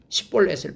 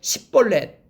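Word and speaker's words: שִׁבֹּלֶת: 그러면은 다음과 같이 발음을 한번 해봐라. 시냇물이라는 뜻이에요. 시냇물 십볼렛을 발음해봐라 라고 얘기하는 거예요. 근데 이 사람이 십볼렛 이렇게 발음하면 그래 너는 맞다. 그리고 만약에 십볼렛 이게 SH 발음을 해야 되는데 S 발음을 하게 되면은 너는 거짓말쟁이라서 쳐 죽였어요 거기서.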